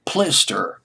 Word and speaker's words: Plister: A group member, now his real name, one of the group members, his real name was Jim Plister. Plister, Pilster, rhymes with blister, Jim Plister, but he was known as J.C.